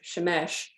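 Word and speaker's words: שמש: they specifically did not list the sun being pronounced as Shemesh and the moon pronounced as urea because it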